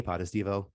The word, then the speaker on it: Potestivo: to point out that my name goes with like level four of every world so it goes podestivo podestivo it's like kind of how i try to get phonetically out there but i appreciate the